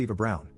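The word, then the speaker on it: Eva Braun: of the historical figure Eva Brun which is pronounced Eva Brown the wife of the person who started World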